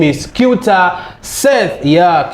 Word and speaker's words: Kyauta: So how do you pronounce that one? Okay, my name is Seth Kyauta.